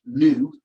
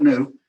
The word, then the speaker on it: nu: number mu it's pronounced new so it sounds like that's how you pronounce the greek letter n it's the greek letter n greek letter n is pronounced new and it's symbolized as